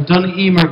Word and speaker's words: Dun: and objects of the duner guild am I actually pronouncing that right duner duner duner Guild assciation thatan pronunciation is dun so um she has